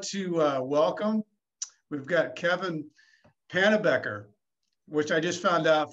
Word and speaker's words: Pannebecker: We've got Kevin Pannebecker, which I just found out from Lynn is she pronounces it wrong. The B is not silent.